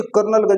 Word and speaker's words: colonel: बच्चे कर्नलगंज बेचारे ढूंढ रहे, बाद में उन्हें पता चला कि कोलोनेल बराबर कर्नल।